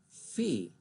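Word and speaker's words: Veh: And pronounced in German, it's Fee, which really doesn't have much of a meaning.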